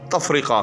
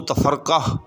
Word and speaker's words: تفرقہ: جو ہم کہتے ہیں اس کا درست تلفظ جو ہے وہ تفرقہ ہے، یعنی فاعل۔ جی ہاں، یعنی بالعموم اس کو تفرقہ فعول کے وزن پر بولا جاتا ہے، تو ایسا نہیں ہے، بلکہ تفرقہ فاعل، تفرقہ علم۔ تو جب بھی لفظ تفرقہ کو کہیں باندھیں شاعری کے اندر یا ویسے گفتگو کے اندر اس کو بولیں تو اس کو اپنے فاعل کے وزن پہ جو ہے وہ بولنا اور لکھنا ہے۔ اب دلیل کے طور